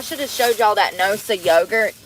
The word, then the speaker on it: Noosa: When we had that yogurt the other day, I should have showed y'all that Noosa yogurt. It's spelled N-O-S-A, Noosa, and it's some kind of like goat yogurt or something.